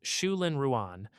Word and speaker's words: Zhulin Ruan: And finally, in 2021, Professor Zhulin Ruan, pronounced Shulin Ruan, and his team at Purdue University pushed the reflectivity number to its current world record.